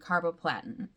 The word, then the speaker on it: carboplatin: And I get paclitaxel and carboplatin.